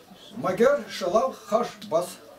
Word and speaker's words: Магер-шелал-хаш-баз: Имя его вот так так и произносится. Магер-шелал-хаш-баз.